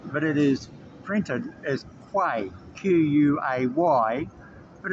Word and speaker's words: Quay: It's bounced, but it is printed as Quay, Q-U-A-Y, but it's pronounced as Quay, circular quay.